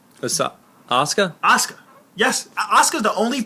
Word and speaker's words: Asuka: now I know uh uh uh um a asakura aak why am I get her name wrong Asuka Asuka yes asuka's the only person that I